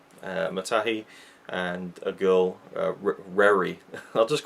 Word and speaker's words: Reri: Matahi, and a girl, Reri. I'll just call them the girl and the man because I don't know how to pronounce them, but her name is spelled R-E-R-I, so Reri.